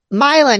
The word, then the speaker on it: Milan: Did I say Milan? Did I say it right? Milan, yes, you said it Milan?